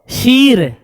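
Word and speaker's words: شیر: जैसे देखिए क्या लिखा शीर शीर नहीं शेर इसको बो शेर दलील नहीं पढ़ेंगे दिलेर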